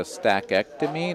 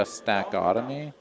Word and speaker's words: stackectomy: Zachary Carroll here says that it's a stackectomy, not a stackotomy, or a stackiotomy.